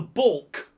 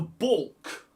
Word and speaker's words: baulk: It is called the baulk. The baulk. The baulk. Like ball with a K on it, but that's not how it's spelt. That's just phonetics.